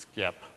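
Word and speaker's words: SXIP: Microsoft drives so over at skip which obviously is pronounced skip um and stands for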